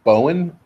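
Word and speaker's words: Boen: Is it Boone or Bean? Or Say that again? Storm Boone? I just call him Storm. Yeah. I can't Just pronounce much his last name. easier. I think it's Bowen, B-O-E-N. Bowen.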